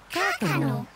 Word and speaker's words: kākano: Let's all say the word together, and then you can try and spell it. Kākano.